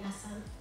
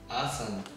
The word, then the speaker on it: Assane: But you don't say the E at the end. So it's just Asan.